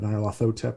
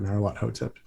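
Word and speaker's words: Nyarlathotep: the idea of uh nylothotep or not a lot hotep depending on what pronounces it as the sort of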